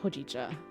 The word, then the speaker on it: hojicha: My brain says hojicha. Oh yeah, that's how. Well, that's how Google says it, and Google can never be wrong, right? An iced hojicha, please.